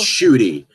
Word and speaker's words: Ncuti: I don't even know am I pronouncing that name correctly? But let us know. It's Ncuti.